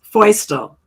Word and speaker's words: Feustel: i have no shame it's foster close close yes say it what was it okay yeah it's feustel oyster and i've had this name since april 1st 1972.